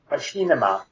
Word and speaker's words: Machinima: is a it's a popular it's first it's pronounced machima and for those who don't understand it's actually